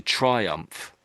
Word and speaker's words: triumph: So, it's um and the ph is just an f sound really. So, try um try. So, it's basically triumph. Triumph.